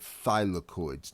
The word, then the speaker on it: thylakoids: membranes and the internal membranes are officially called thylakoids now I apologize that's not on this slide